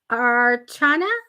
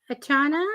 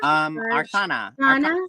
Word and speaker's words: Arcana: Matty, help me with the pronunciation. With whom? The what? Archana? Arcana. Arcana.